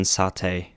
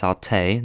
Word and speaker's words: satay: Or in English, please teach me how to make chicken satay. So, in doing research for this recipe, I found that not only have I been mispronouncing it my whole life, it's satay, not satay, but also the version I've made